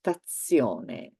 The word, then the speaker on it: stazione: And in fact, in general, let's say that there are more words with the sound ts. So one is pizza, everybody knows it. The other one is stazione.